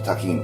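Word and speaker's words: Tajín: Actually, is pronounced in the Spanish language tajin.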